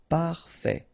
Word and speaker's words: parfait: Final T not pronounced. Parfait.